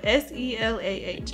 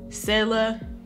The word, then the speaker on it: Selah: It's a Hebrew name, so people pronounce it differently. I've heard it pronounced Selah, but we're country. I don't... Well, especially him. I'm not that country. So we're going to go with Americanized way and say Selah.